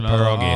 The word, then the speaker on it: pierogi: always like, hey, I want to have some pierogis. And we were always told that's not the way to do it. So it's pronounced pierogi.